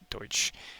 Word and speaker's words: Deutsch: It refers to their German background and the language they spoke, Deutsch, pronounced Deutsch. It's the German word for German.